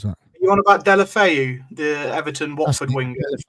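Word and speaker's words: Deulofeu: I can't pronounce that. You on about Delafeu, the Everton Watford winger? Delafeu.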